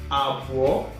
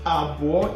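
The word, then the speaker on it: Abụọ: So 2, that is Agbo in Igbo, is being written like this. A, Bu, Bu, Wo, Agbo, O2.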